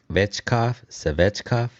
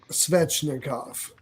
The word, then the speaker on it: Svechnikov: It is not Svechkov, I guess. I'm bad at pronunciations. Svechnikov. Svechnikov.